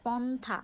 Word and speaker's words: পন্থা: সো দেখো পন্থা, পন্থা, পন্থা, ন থ আসছে, তাই না? কিন্তু আমরা যখন লিখেছি তখন কিন্তু নর নিচে হ লিখেছি। তো আমরা যখন উচ্চারণ করছি তখন হচ্ছে পন্থা, ন থ।